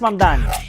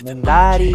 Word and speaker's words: Mamdani: Fíjense, nadie sabe pronunciar mi apellido. Es Mamdani, pero a cada rato me dicen Mundari, Mumnari.